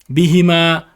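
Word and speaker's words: بِهِمَا: Bihi, bihima, bihim.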